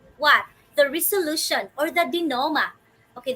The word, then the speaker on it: denouement: The resolution or the denouement. Okay, this is how you pronounce this word, dear wonders. Denouement, not denouement or denouement.